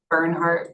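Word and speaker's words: Bernhard: Burnhart.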